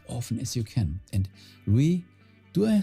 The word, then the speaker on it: Louis: We have to, yes, it's pronounced as Louis.